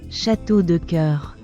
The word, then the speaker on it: château de cœur: château de cœur All right, we got the pronunciation correctly and it does mean castle of hearts.